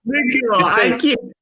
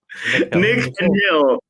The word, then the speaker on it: Nikhil: So just remember, Nikhil. Just keep in mind his name is Nick and a Hill. Nikhil.